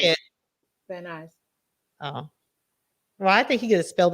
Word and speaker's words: Van Nuys: I'm like, she's still gonna mispronounce that, right? Go ahead. Let me hear you say yeah, it. you Vannies.